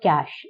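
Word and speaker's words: Zcash: Bitcoin है जैसे, जिसका नाम आपने सबसे ज्यादा सुना होगा, फिर है एथेरियम, मोनेरो और कैश। इसमें जेड जो है वो साइलेंट है।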